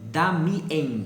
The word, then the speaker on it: Damiens: O jovem Damien se escreve Damiens, com NS no final.